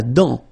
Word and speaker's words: dent: La dent, final T not pronounced. La dent.